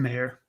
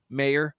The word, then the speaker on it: Mayer: Michael Meyer, have we decided how to say his name yet? It's Mayor. Mayer out of Notre Dame.